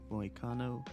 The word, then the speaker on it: Moicano: I think it's Moicano. a hard C.